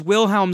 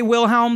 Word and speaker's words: Wilhelm: So it's funny that they still use Wilhelm screams. People say Wilhelm. They don't say Wilhelm. Isn't this? Yeah, but they probably should say Wilhelm.